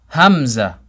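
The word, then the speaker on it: همزة: sound ha ha Hamza same starting sound we're gonna say it five times hums hums hums hums hums a person's name is Hamza is spelt with a hat but the letter this letter that we're taking now is code hamza with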